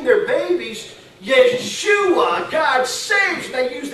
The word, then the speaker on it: Yeshua: But do you know how it's pronounced in the Hebrew language? It's Yeshua. Yeshua.